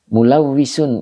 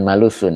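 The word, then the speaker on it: مُلَوَّثٌ: Mulawisun itu Ustadz. Mulawisun ya bacanya ya. Mulawisun. Oh gitu ya. Bukan malusun ya. Mulawisun.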